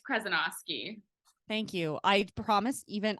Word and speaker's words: Krezonoski: have Michelle and Kim krosi kinosi oh my gosh I already butchered that can you tell me how to say your last name properly it's okay it's 10 letters it's kenosi thank you I promis